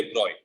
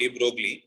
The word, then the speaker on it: de Broglie: sorry french physicists named actually pronounce it as fluid deploy it is not de broglie okay it is deployed d-a-b-r-o-y okay so he